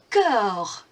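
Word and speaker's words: corps: Le cœur. Le cœur. Now, if you listen to my pronunciation, you will notice you don't say the P or the S.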